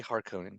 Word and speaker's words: Harkonnen: That's not how you pronounce it. It's I say Harkonnen. I don't like the way that certain people say it. The Harkonnen. That shit sounds crazy. Sounds Um, very German.